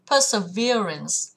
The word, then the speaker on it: perseverance: Perseverance, perseverance, trọng âm sẽ vào âm thứ 3.